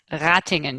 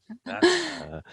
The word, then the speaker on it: Ratingen: Ratingen, yes. Ratingen.